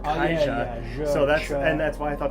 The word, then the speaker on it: Caixa: It's spelled with an X, but it's pronounced Caixa.